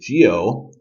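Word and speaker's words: 九: well the letter nine the number nine is until which is Geo you can think of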